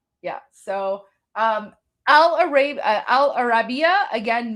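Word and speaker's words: Al Arabiya: So this is Al Arabia. Oh, sorry. Al sorry I mispronounced it. It's Al Arabia.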